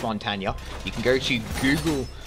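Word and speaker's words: Montagne: him Mountain as well and yes it is pronounced Montana you can go to Google uh Google says uh in which they get people from the native language to can for you and they pronounce it Mont Y is meant to be quite emphasized but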